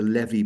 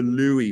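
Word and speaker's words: Lewy: is a levy body now Levy is the kind of correct pronunciation but the Americans converted it I think it must have been the Mickey Mouse effect with Huey dewy and Louie so they converted it to Louie body and in fact when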